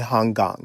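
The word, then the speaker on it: Han Kang: So that's We do not part by Hong Gong is how you say her name.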